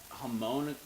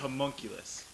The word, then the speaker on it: homunculus: from yeah okay so right now I'm like homologous and then I was like yes that's pretty much it's a homunculus okay can you can you tell people what